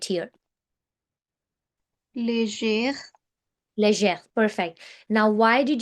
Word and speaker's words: légère: So whenever G is accompanied or followed by an E or an I in a word, it becomes je.